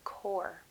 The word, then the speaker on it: Corps: Notice I do not pronounce the P in the word core.